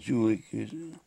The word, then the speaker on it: Jülich: And Jülich is how they pronounce it.